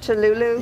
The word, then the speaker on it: Touloulou: Am I saying it correctly? Touloulou? Yes.